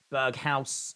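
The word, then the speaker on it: Berghuis: So Klaassen has been removed, and we are seeing Burgess? I think that's how you might pronounce it. He is on the field. Berghaus is how you say his name.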